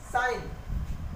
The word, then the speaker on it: sign: जब जी के बाद एन आता है तो जी साइलेंट हो जाता है।